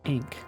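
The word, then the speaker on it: Ankh: They they pronounce it strange. I I've always heard it like ank. They say like ink.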